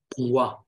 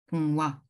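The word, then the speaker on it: འབུང་བ: So the thing is that when we're pronouncing it together, what you're doing is you're putting too much emphasis on this, so it becomes bungwa. But it has to be bungwa.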